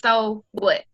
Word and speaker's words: S.O. What: And it is S period, O period, because those are my initials, but it's pronounced so what?